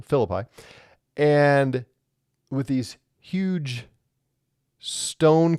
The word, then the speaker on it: Philippi: this area in Cesaria Philippi. I keep putting the emphasis on a different syllable. Philippi and with these huge stone cliffs near Mount Hermon.